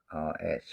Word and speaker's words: Hours: from the album called Hours. Hours. Funny how the H is silent.